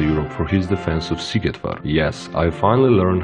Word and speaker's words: Szigetvár: He is known all across the Europe for his defense of Szigetvár. Yes, I finally learned how to pronounce it.